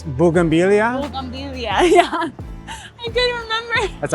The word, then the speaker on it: bugambilia: Boyambigia? Bougainvillea? Bougainvillea.